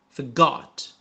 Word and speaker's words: forgot: Forgot. Get back out. Found. Killed. Again. مرة أخرى. The next morning. Went. Donkeys carrying huge chests inside, saying password, but forgot. Here R is silent.